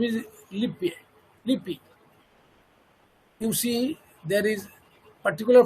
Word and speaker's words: Lippe: His name is Lippi. The pronunciation should be Lippi, not Lippe.